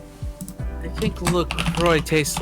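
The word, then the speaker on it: LaCroix: Ah, see I I don't think I've ever been around Lacroya. And French is technically supposed to say it. Laqua, which translates to the cross.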